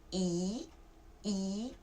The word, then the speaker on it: 一: Normally, when you count the numbers like 1, 2, 3, 4, 5, you say "i", okay, with the first tone.